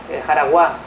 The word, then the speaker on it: Jaraguá: Marién, todos lo ubicamos, ¿no?, la jefatura de Marién, la jefatura, ¿no?, de Magua, Jaraguá, ¿no? La pronuncio así porque aparece también acentuada, aparece acentuada en la fuente y sin acento, ¿vale?